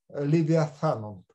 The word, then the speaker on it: левиафан: Левиатан, тав, он без дагеша, поэтому читается как фита левиафан. Такое должно быть произношение там на самом деле.